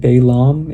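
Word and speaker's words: Balaam: So basically in the last chapter we ended with um so it's pronounced Balam is his name and Bok Balam is basically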